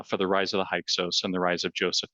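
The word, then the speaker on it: Hyksos: of Northern Egypt to the heos or hios is is the common pronunciation rulers who looked and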